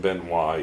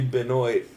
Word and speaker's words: Benoit: and number 2 is still not the right way to pronounce that word because it's not an anal bead. It's the only it's the only reason you should ever pronounce it like that. It should be Benoit.